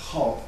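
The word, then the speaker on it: 好: Puis ensuite, Hao, prononcé ici au quatrième ton et non pas au troisième, qui signifie aimer.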